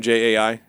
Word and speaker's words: Jai: Jai.